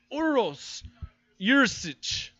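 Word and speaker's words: Uroš Jurišić: Uros Jurisic is how you pronounce that.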